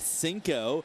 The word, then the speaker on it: Cinco: look out for is pete cinco pronounced just like the spanish number five in the last two